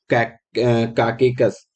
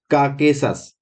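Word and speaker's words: Caucasus: उसका नाम क्या है, काकेकस। ठीक है, कौन सी है, काकेकस, काकेसस, काकेसस, थोड़ा प्रोनाउंसिएशन गड़बड़ हो रहा है, काकेसस।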